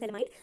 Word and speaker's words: phthalimide: Okay, Gabriel थैलामाइड, इसमें P silent होता है. ओके, पीएच साइलेंट होता है. हमने इसे क्या बोलना है, गैब्रियल थैलामाइड रिएक्शन.